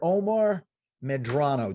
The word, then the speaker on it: Omar Medrano: Omar Medrano.